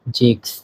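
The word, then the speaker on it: sechs: এরপরে 6 কে বলা হয় জেক্স।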